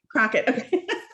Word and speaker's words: Crocket: so it's really nice to meet you and pronounce your name for me crockett all right just want to make sure i